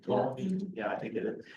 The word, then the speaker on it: Ptolemy: He grew stronger than Ptolemy. I think the P is silent, right? Ptolemy, yeah, I think it is.